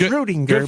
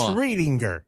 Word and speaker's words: Readinger: I don't know who told you it was Rudinger, but it's Readinger. Good for grandma. Sorry, grandma. No, it readinger. It's It's Readinger. Uh, and Grandma will tell you that every time you say it wrong.